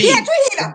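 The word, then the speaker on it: Piedrahita: Pietrahita. And the If I'm message gonna be that your came sister, learn how to pronounce it. right, right. I mean, Margarita. Stacy yeah, Margarita. It rhymes with Pietrahita.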